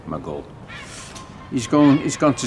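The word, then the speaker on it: Maghull: Maj hu toe below we pronounce it my goal he's gone is going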